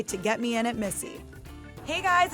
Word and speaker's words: Misi: After the success of her first solo venture, Lilia, an Italian restaurant in Brooklyn, she recently opened Misi, pronounced like her name, but spelled differently.